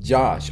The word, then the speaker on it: Jazz: Jazz is pronounced Josh. Oh, wow, okay. Sorry about that, Josh. And check this out. They drew some cool stuff at the bottom, CORYXKENSHIN graffiti. That was pretty awesome. Thank you so much, Josh. Not Jazz, but Josh, but spelled like Jazz.